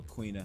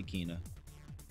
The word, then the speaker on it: Quina: Or Quina. How do you guys pronounce it? Quina or Kina? I say Kina.